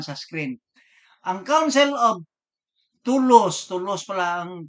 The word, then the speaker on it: Toulouse: Ang Council of Toulouse pala ang pronunciation nito.